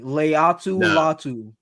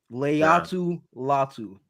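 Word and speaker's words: Laiatu Latu: talk about him Leu say it with me Leu latu Leu latu he better lay to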